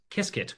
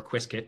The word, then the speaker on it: Qiskit: And the first one that's, you know, really leading in open source is Qiskit, or Qiskit, depending on how you choose to pronounce it.